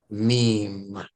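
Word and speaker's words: ميم: but it doesn't matter as long as you pronounce it with the long e meme all right so you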